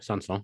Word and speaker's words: Sanson: I mean, you've got Sanson right, I would say. Sanson. The way you say that is correct. He got the pitch as well, didn't he? Sanson.